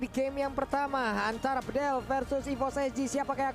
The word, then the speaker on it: Bedel: Dari mahasiswa Turki, dia bilang, Bang Kornet bacanya bukan Bedel, Jadi? tapi E-nya dibaca semuanya E, jadi Bedel. Bedel.